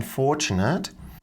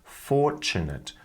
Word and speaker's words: fortunate: how fortunate I am so we're not pronouncing the r in fortunate and the TU sound is combining together to make a CH sound fortunate fortunate fortunate for and we're losing this a here it's just becoming awah so it's nice